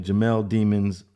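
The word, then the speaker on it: Jamell Demons: And that's the way his name is pronounced. I was watching some of the news on this. His name is Jamel Demons, and he's actually facing the death penalty.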